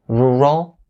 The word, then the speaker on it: rural: So rural, rural, rural. So my suggestion right here is to separate them. The first syllable, say it slowly, and then after you